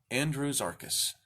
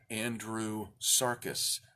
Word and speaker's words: Andrewsarchus: and it is called Andrews arcus now I for the longest time pronounced it Andrew Sarkis like there's an s beginning the second half of the name in fact the name